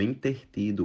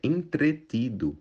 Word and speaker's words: entretido: a gente escuta muito intertido o correto é entretido supérfulo na verdade o